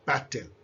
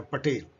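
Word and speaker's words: Patel: इनका देखिए पटेल को कैसे स्पेलिंग तोड़ दिया गया है, अमेरिकनाइज कर दिया गया पटेल, जबकि ये है पटेल।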